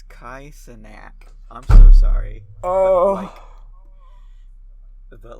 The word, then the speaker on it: Kai Cenat: Is it not K-Cent? Is that how you say it? It's Kai Cenat.